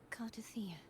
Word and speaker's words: Cardia: Um, no, I'm Cardia. That's how you pronounce it.